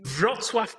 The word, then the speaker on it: Wrocław: Please pronounce where you... Wrocław, Poland.